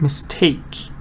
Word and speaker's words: mistake: Take is meaningful, so you can put the stress on the meaningful part. Mistake. Alright? Mistake.